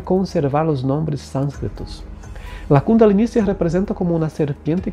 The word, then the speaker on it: Kundalini: Como Kundalini, que é possível que haya escuchado a pronunciação Kundalini. Está mal. A pronunciação correta é Kundalini, com o acento na última sílaba.